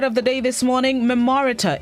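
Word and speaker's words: memoriter: 13th century word of the day this morning memorita it's spelled m-e-m-o-r-i-t-e-r an adverb which means by heart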